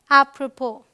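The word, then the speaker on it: apropos: number seven कहता है कुछ वर्ड्स में एस साइलेंट होता है जैसे यह क्या है अप्रोपो ऑलराइट यहां पर एस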